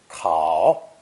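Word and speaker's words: 丂: It's pronounced third tone, kao, kao, and enters into the composition of many characters, especially as a pronunciation clue.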